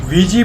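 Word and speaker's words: Ouija: तो वीजी board का नाम जो है OUIJ, वीजी पढ़ा जाता है, इसे प्रोनाउंसिएशन अलग है लेकिन यही है।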